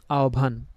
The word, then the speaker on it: আহ্বান: পরিবর্তন করব জিনিসটা হচ্ছে আমরা ও ভর রসভ এর মত উচ্চারণ করব্যা তবে এখানে পার্থক্যটা আমি দেখাই জিনিসটা আসলে কি যেমন একটা শব্দ লিখলাম আমি আপন যে আমরা যেটাকে আহবান বা আহবান বলে থাকি হ্যাঁ ওই শব্দটাই দেখি তো এখানে আমরা পরিবর্তন যেটা